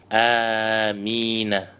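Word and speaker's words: آمين: То есть самое правильное, самое известное и самый лучший вид произношения «Амин» у ученых – это удлиняя первый звук и не удваивая мим.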